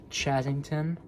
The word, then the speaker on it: Chazington: It's spelled uh C H A Z I N G T O N. Chazzington.